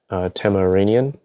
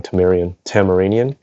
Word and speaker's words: Tamaranian: She is a Tamaranian. I think I said it wrong. Tamaranian.